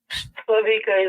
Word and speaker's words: Slavika: Am I saying it right? I know I've been messing it up here. Slavika? Slavika is right, yes.